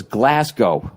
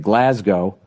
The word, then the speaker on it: Glasgow: And when I finally went, I thought it was Glasgow. So I wasn't saying it right. Then I went there and I heard how they said it, Glasgow.